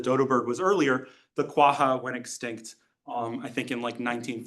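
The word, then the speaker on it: quagga: This is what's called a quaha. Oh, it's a qua. A quaha. It's spelled quaga. GG. So, this is um an extinct uh horse.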